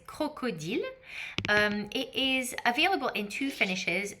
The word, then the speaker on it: crocodile: So I'll say them in French so you can pronounce them in French if you'd like to. So crocodile is crocodile.